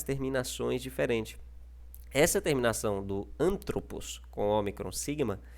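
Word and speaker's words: ἀνθρώπου: aí o acento não pode mais ficar no an, ele tem que ficar no tro, tá ok? Então nós não lemos mais antropos, mas nós lemos antropo, tá ok? Porque o foco está nessa sílaba que está acentuada, tá ok?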